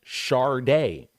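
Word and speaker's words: Sade: he said it even put it in parenthesis pronounced Shard day this was her own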